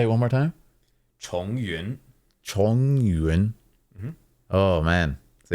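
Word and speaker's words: Chongyun: So Yun is a cloud, and Chong is like Chongfu, like repeating. Like again, sort of.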